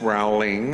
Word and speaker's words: Rowling: the queue would say oh miss rowling as they would say her name wrong usually um miss rowley i have this for you